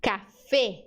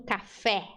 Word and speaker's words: café: Letra E no espanhol é sempre fechada, sempre como se tivesse um acento circunflexo sobre ela. Então é E. Eu digo café, não café.